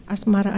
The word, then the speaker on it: Asmara: Asmara, A-S-M-A-R-A ejaannya, Asmara sebutannya, Bang As sebutannya, 100 harinya, Februari tanggalnya, 2011 tahunnya.